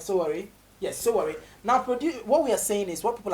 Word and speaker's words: Sowore: Police, did I pronounce his name correct? Sowore.